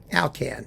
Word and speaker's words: Alkan: that, but it's by Al Kan. Along Alcan rhymes with Kcan, the dog food if you do it in English.